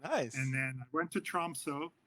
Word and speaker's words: Tromsø: then I went to Tromsø, Troms, I guess if you pronounce it correctly, Tromsø.